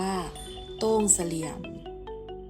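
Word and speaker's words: ทุ่งเสลี่ยม: ทุ่ง เสลี่ยม จังหวัด สุโขทัย ทุ่ง เสลี่ยม เป็น ภาษา ล้าน นา หมาย ถึง ทุ่ง เดา คน พื้น บ้าน ออก เสียง ว่า โต้ง เสลี่ยม โต้ง คือ ทุ่ง เสลี่ยม มา จาก คำ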